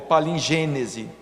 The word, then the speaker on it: palingênese: É a palingenese, não é? Ou palingênese. Depende da pronúncia de quem está estudando o assunto.